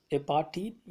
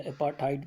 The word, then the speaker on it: apartheid: तो पहला जिसमें वर्ड है कि बिफोर यू रीड, एपार्थीड या एपार्थाइड भी कहते हैं उसको, जैसा भी आपको प्रोनाउंस है, जनरली इसको एपार्थाइड भी कहा जाता है।